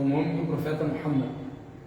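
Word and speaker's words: محمد: Tem pessoas que falam Muhammad. É incorreto. Certo é falar o quê? Muhammad. Muha. Não é Muhammad, como a maioria das pessoas pronunciam. É com essa letra, o Ha.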